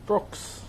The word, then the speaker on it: Brox: Brox. The H is silent. Now it's only there because Brox without the H was taken. So I had to come up with a sneaky way of how I could do it.